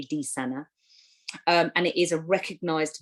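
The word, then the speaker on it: dysania: suffer with this now i hope i'm pronouncing this right but i might not be it's dysanna spelt d-y-s-a-n-a so i'll say that again d y s a n a disanna i think that is how you pronounce it it might be d sana and it is a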